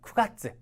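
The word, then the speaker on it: 九月: 기입을 안 했는데 뭐 9월 같은 경우 있잖아요 그럴 때는 쿠가츠 짧게 가츠라 해주시면 되고요 훈으로 보시게 되면은 코코노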